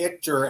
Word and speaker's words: Ichter: It's not ITCH. It's ICHTER. Before we went live, I asked how to pronounce it. I said it wrong. Yep. It's like Victor without the V.